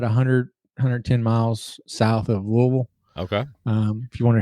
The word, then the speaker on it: Louisville: We are about 60 miles north of Nashville, probably about 100, 110 miles south of Louisville. Okay. If you wonder how to pronounce that correctly, it's Louisville. So, Louisville.